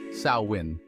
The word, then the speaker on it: Samhain: ancient Kelts and their Festival of samhan pronounced sawin imagine this the end